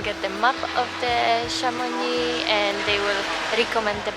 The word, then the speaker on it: Chamonix: you to chamonix and be careful when you pronounce it because if you pronounce it anywhere different I pronounce it kamuni before and they had no clue what I'm talking about so yeah it's a bus to chamoni so guys we have